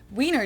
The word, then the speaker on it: Wiener: The German W is pronounced like an English V, and it usually refers to the sausage.